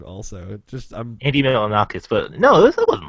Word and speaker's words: Milonakis: It was basically the Andy Militanakis show before that existed. But Annie Militanakis show is actually a little bit funny. No. I know I'm saying that name wrong. Also, I'm Andy Milonakis, but no, it wasn't like that.